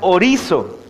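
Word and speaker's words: ὁρίζω: La palabra declarado, hermanos, viene de una palabra griega que se pronuncia orizo.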